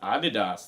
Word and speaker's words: Adidas: Germans told me is actually pronounced Adidas. That's the German way you go. Adidas. Adidas. Yeah, that's how they do it.